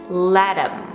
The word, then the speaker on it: let them: the two vowels but we don't pronounce them as them we actually reduce it to m it's a contraction so we're saying latim him and in that instance